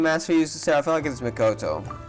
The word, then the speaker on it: Makoto: also my sister ryden makoto makoto okay so that's how it's pronounced my bad he may